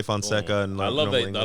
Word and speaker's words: Fonseca: where, by the way, Derrick, how do you pronounce the last name? Because there's the Spanish Fonseca. Same shit. Yeah, Portuguese and Spanish be the same way. Fonseca. Yeah, same shit. Fonseca.